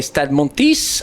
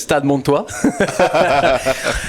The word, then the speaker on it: Stade Montois: Yeah, so it's funny because you say Stade Montis, and this is Stade Montois.